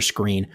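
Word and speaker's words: Skrine: he wasn't coming back when they signed Buster screen and for whatever reason SKR ine how that's pronounced screen I don't know I learned that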